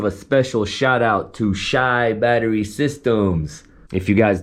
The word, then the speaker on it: Chi: lot of people say chi or chai that's wrong it's shy like Chicago like shy town so it's shy Battery